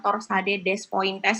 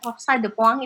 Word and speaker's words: torsade de pointes: itu apa ya jadi bacanya bukan torsade de pointes itu enggak rosadhe Pong itu artinya eh eh